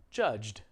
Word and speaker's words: judged: trying to emphasize is even though this word looks like it's two syllables really it's just one syllable so if you were